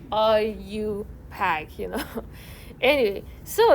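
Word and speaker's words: IUPAC: that are you pack and your book you know kind of like wrote the pronunciation for people like me too so i know you know how to pronounce that so it's kind of like i you pack you know anyway so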